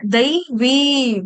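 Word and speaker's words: दैवीम्: हरे कृष्णा देखो सबका सबके लिए ये दवीम है दवीम आप लोगों को दो चार बच्चों ने बहुत अच्छा उच्चारण किया इसका लेकिन कई लोग डिवोटीज को प्रॉब्लम आ रहा है दवीम इस तरह से उच्चारण करेंगे और आपका स श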